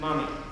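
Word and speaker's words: momme: is like millimeter 8 and n and you pronounce the mm mummy now there's different types of soaps out there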